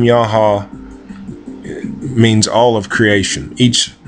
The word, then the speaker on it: YAH HA: But this deity, I believe, to be called YAH HA. It's 2 syllables.